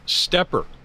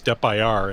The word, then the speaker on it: SteppIR: okay now I'm I'm I pronounced stepper right because I've also heard people insist no it's steppir and I think no no I'm pretty sure it's stepper they they refer to